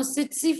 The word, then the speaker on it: tsetse: Now, tsetse fly, some people pronounce it, and some people pronounce it as testis fly, so it's up to you.